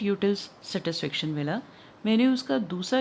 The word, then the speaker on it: utils: इसको यूटाइल्स भी बोलते हैं बट it should be pronunciate as यूटिल्स. So cardinal यूटिलिटी refers to a process of measuring utility in terms of numbers.